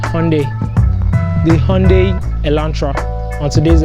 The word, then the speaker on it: Hyundai: what I owned I like Nigerian skates it's pronounced Hyundai the Hyundai Elantra on today's episode I'm going